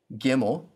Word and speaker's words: Gimel: Gimel sounds like the G in God.